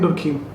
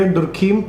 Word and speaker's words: Durkheim: Okay, so I pronounce it in this way, Durkheim. People say Durkheim or whatever it is.